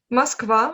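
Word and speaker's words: Москва: Moskva, oui, Mokv, Moskva, c'est Moskva, ça, c'est ça.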